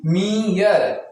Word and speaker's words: mere: जैसे यहां देखिए MERE, क्या बोला, अगर ERE आता है, देखिए ERE तो पहले ई का उच्चारण ई होगा फिर उसके बाद आ होगा। तो इसको हम क्या पढ़ेंगे MERE मीयर, ठीक है। पहले ई का आवाज आएगा फिर आ का आवाज आएगा मीयर, ओके।